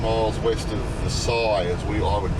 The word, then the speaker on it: Versailles: 7 miles west of Versailles, as I would call it. And the locals spell it literally, pronounce it literally Versailles.